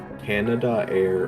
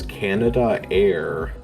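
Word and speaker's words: Canadair: You just pronounce it like Canada air.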